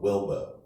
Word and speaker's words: Wilbo: prefer to go with Wilbo. Okay, W-I-L-B-O, just like Jimbo in Texas on Wilbo. Kind of rhymes with dildo, right?